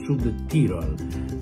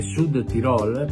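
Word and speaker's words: Südtirol: Il Perugia sale a Bolzano, dove il Sud Tirol, l'accento va sulla O, mi raccomando, anche ai colleghi che continuano a definirlo Sud Tirol, è Sud Tirol, parola tronca, e si giocano molto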